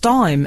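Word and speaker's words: Daim: of mine he says Dame bars are still pronounced dime FYI there's another FYI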